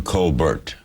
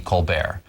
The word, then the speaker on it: Colbert: a fake person, but my father really wanted to be Colbert. But his father didn't understand. He thought it was insulting that his son would want to go by a different pronunciation. So I'm one of 11 kids. And my father said to us, you make up your mind. You can be Colbert or Colbert.